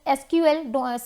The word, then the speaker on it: SQL: इट is pronounced as एसक्यूएल, sometimes सीक्यूएल, ठीक है। तो हम समटाइम्स को सीक्वल लैंग्वेज भी कहते हैं।